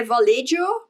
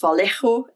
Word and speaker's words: Vallejo: use these inks by Vallejo uh I think it might be pronounced Vallejo in Spanish but I'm not sure please don't come at